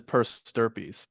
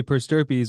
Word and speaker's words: per stirpes: So a strategy to do that, and what it's called is per stirpes.